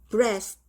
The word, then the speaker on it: breast: EA가 애 발음해서 breast 이렇게요.